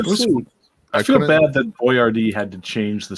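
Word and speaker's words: Boiardi: Ettore Boyardee.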